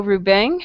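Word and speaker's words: Rubén: and my name is pronounced Ruben. with stress at the second syllable.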